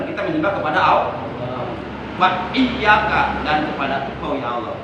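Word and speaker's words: إِيَّاكَ: Jadi kalau iyyaka tasdid hilang, itu maknanya sinar matahari, maknanya dawu samsi, maknanya sinar matahari.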